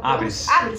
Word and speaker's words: ABRES: É a ABRES que fala? ABRES, que Associação Brasileira de Estágios, essa é a pronúncia, ABRES. Bem-vindo aqui à nossa redação